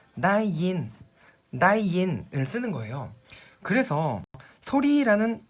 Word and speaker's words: ได้ยิน: 바로 읽으실 때 다이인, 다이인 이라고 발음하시면 들리다라는 동사라서요.